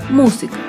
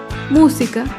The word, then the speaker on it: música: antepenúltima sílaba por ejemplo la palabra música música se acentúa en la antepenúltima fila música todas las palabras esdrújulas